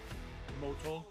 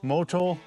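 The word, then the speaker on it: Motul: How do you pronounce that, Trevor? Motol. Motol.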